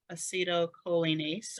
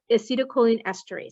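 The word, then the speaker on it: acetylcholinesterase: you need this right here what is this acetylcholinase or did I pronounce that I think I missed a syllable in there yes acetylcholine esterase so your wrists yep so a silk what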